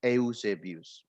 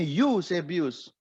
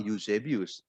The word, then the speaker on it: Eusebius: sudah jelas Oh ya ada yang mengkritik saya itu salah bacanya tapi dibacanya userbius Oke kalau anda membaca dalam bahasa Inggris memang usefus tetapi nama euse bius itu dalam bahasa Yunani saudara Yunani memang kata eo itu dibawa dibaca jadi memang saya membaca bios tidak